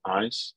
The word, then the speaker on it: Ayes: our business which is called eyes and that's spelled a-y-e-s the main reason let's